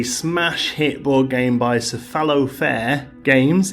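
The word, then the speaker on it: Cephalofair: hit board game by cephalo faire games is that how you say it it's a fallow fare yeah and is by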